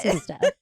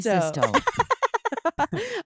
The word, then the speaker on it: Sisto: Did you hear that? Jeremy Sisto. Oh, That's how you say it. I was like, wait, what? Sisto. Yes, I couldn't highlight it. No, fast that's enough. perfect. It is Jeremy Sisto.